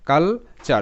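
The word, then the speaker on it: culture: একটা প্যাটার্ন ঠিক আছে সবসময় টি ইউ আর ই এর উচ্চারণটা চার হয় এটা প্যাটার্ন এখানে টি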